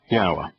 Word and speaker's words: Yahowah: Pronounced the same way in English as it is in Hebrew. Therefore, it is Yahowah.